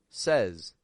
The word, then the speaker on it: says: y s I don't actually say it like say I say says says as if it's an s e z or Z z z